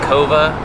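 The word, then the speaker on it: Coava: fun dummy fact for you uh it's actually pronounced cova which is green or unroasted coffee so we didn't know now you know that latte we just had was a vanilla latte at cova the best uh latte i've had in recent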